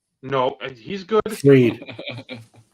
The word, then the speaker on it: Fried: Fried. No, he's good. Freed. It's spelled fried.